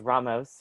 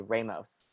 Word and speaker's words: Ramos: language like i'll say ramos right which isn't like you're supposed to roll your r and ramos i can't rule my